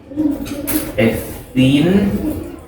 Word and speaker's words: ethene: Ethene is pronounced like E, C2H4.